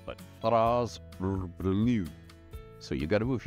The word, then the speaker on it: Fraz-Urb'luu: humans These days, in the realms, settle on FRAZ-URB'LUU. FRAZ-URB'LUU. Again, it's not easy to say, so you will hear variations. FRAZ-URB'LUU.